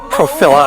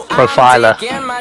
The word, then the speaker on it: Profila: My guest today is Shawn Jensen, founder and CEO of Profila. I was going to say it right and I forgot. How do we say it? Profila. Profila's cool too, but Profila, it's your profile.